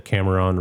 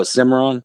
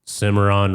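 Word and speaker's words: Cimarron: The Cameron River. Oh, Simmeron. Simmeron River.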